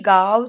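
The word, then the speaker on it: गाँव: பேசுங்க கல் காவ் ஜானாஹே இங்கிலீஷ்ல என் அப்படின்னு வந்துருக்குல்ல கால அது என் எதனால வருதுன்னா ஹிந்தி எழுத்துல மேல இங் அப்படின்ற அந்த புள்ளி வருது. அதனாலதான் அந்த என் வருது. ஆனா அதை நம்ம உச்சரிக்க கூடாது. காவ் அப்படின்னு படிக்கணும். காவஜானாஹே அப்படின்னா நாளைக்கு ஊருக்கு போகணும் அப்படின்னு அர்த்தம்.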